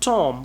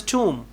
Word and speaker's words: tomb: you mispronounced certain words the word is not tom we pronounced it as tomb tomb and the word